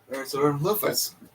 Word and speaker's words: Parasaurolophus: Parasaurolophus.